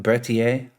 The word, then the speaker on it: Berthier: give us the name there one more time bertier model 92 right and so this is basically